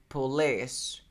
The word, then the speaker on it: police: Yes, the correct pronunciation is police. Police. Police. Yeah, the stress is here, so you say police.